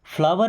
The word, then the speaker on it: flower: FLOWER, इसे भी फ्लोर पढ़ते हैं, फ्लावर नहीं बोलते, फ्लोर।